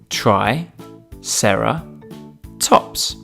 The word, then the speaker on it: Triceratops: do we have with us today triceratops try sarah tops can you say it with me try sarah tops let's learn all about triceratops triceratops was found in north america it lived